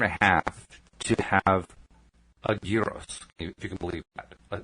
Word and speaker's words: gyros: Well, I call it like I do a gyro. It's a gyro or a hero, but the Greek pronunciation is gyros.